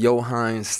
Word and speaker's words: Yo'Heinz: I'm Mark Walton, this is Josh Miller, and we're here with Johannes Tyler. That's how you say it, right? Yeah. Yes. And no, that is not a name of a ketchup.